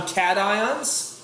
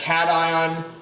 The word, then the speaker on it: cation: between the two because cation makes you want to pronounce staycation which sounds like vacation and those are definitely